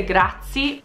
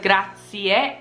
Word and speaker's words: grazie: very important because a lot of people say good a seat instead of gratia and if someone says grazie to me it's very easy for me to